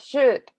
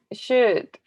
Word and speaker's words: should: really easy we have should okay we don't pronounce l okay oh we don't say l we say and should we can use should to say when something